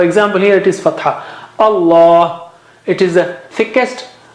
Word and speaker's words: Allah: So Allah, the lam of Allah, the word Allah is thickest. Allah. You don't say Allah. Don't say Allah. Allah, like that.